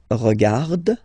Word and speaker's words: regarde: So phonetically, only one form here.